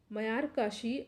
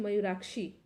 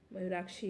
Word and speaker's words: मयूराक्षी: ठीक है, मयूर काशी होगा ये, सॉरी, मयूर काशी प्रोजेक्ट। निम्नलिखित में से कौन दो राज्य मयूराक्षी, ठीक है, मयूराक्षी है, यहाँ प्रोनाउंसिएशन में थोड़ा मिस्टेक हो गया, मयूराक्षी परियोजना से लाभान्वित हो रहे हैं।